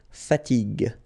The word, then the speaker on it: fatigue: So as we said here, you should pronounce it G, G. Okay? So you get the word fatigue, fatigue.